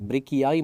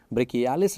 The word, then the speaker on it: brachii: Biceps ब्रेकियाई muscle, spelling थोड़ा ध्यान से लिखना, वहाँ पर BRACHII, ब्रेकियाई मसल। बहुत सारे स्टूडेंट्स ऑफलाइन क्लासेस में अपनी मर्जी से वहाँ पर ब्रेकियालिस लिख लेते हैं। ब्रेकियालिस नहीं है, ब्रेकियाई है, बाइसेप्स ब्रेकियाई।